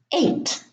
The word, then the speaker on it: eight: Now, all of those words have a silent G and H. In the first group, the GH are in the middle: fight, sight, light, tight, night, bright, height, eight.